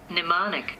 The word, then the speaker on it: mnemonic: Mnemonic. Mnemonic. Mnemonic. Mnemonic. Mnemonic. It's spelled weird, it's funky Mnemonic.